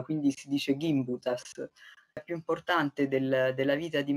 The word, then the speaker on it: Gimbutas: mio lavoro di traduzione mi disse che l'accento del nome della loro famiglia e sulla prima sillaba 15 dice gimbutas più importante della vita